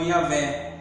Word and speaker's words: Yahvé: Mas no hebraico seria pronunciado como Yahvé, e é construído sobre a palavra eu sou.